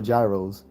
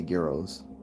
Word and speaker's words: gyros: I saying this right is it gyos or Gyros he was like he said well most people say it's Gyros but he said no we we we we say geros so I've never heard it pronounced Euros geros